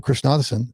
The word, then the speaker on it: Krishnadasan: And one of the biggest problems I've seen is in people like Deb Krishnadasan is that, yeah, that's how you say it.